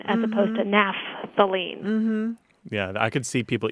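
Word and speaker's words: naphthalene: you pronounce that because sometimes people just abbreviate the pH as a p m so they would say napthalene as opposed to napthalene yeah I could see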